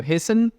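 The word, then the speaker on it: hasten: की बात करें तो हेसन टी साइलेंट होता है रश एक्सीलरेट जल्दबाजी करना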